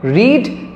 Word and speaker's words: read: রিড third form. রেড must be রেড। রেড উচ্চারণ হলেও স্পেলিংটা same থাকে।